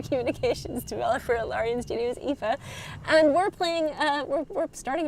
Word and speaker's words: Aoife: My name is pronounced Aoife. Think of it as E-E-F-A. It's Irish, as am I, which we've already covered in the stream.